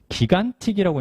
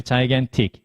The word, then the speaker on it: gigantic: 우리가 생각하는 그 발음이 아닐 수 있어요. mine 이거 아니고요. chase 이거 아니고 그 다음에 기간틱이라고 있는 친구들이 있는데 요거 아닙니다. 그래서 실제로 이제 얘가 듣기에서는 determine, 그 다음에 purchase, 그 다음에 gigantic 이렇게 이제 발음이 되기 때문에 실제로 보는